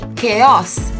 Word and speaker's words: chaos: don't call it a chaos it is simply chaos say it once more chaos now this vegetable